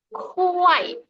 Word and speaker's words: 快: 累 Lalu K ya, Laoshi sudah jelaskan K, kuai. Bacanya KH, ada H-nya di tengah, jadi kayak kuai. Bukan kuai, ya ini beda. Kuai sama kuai, itu beda. Yang satu ada H-nya, jadi ini tuh K itu dibaca seolah-olah ada H-nya.